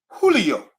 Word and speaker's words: Julio: we gotta know that Jays make English sound H's who knew Julio got another J here